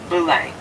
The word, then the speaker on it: Belém: B-E-L-E-M. Belém, we pronounce it.